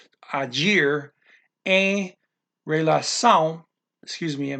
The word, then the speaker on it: agir: And acting, agir. That's always a G in this language.